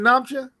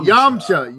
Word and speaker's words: Yamcha: Is it Namcha? Is it how you say his name? Yamcha. Yeah, I said Namcha. Yamcha.